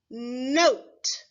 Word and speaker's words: note: Remember that 4th letter is our magic letter E that does not make a sound.